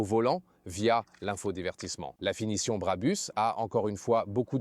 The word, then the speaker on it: Brabus: D'ailleurs, écoutez et répétez Brabus, ce n'est pas Brappers ou autre, la prononciation allemande originale serait Brabus. Une prononciation allemande bien ferme.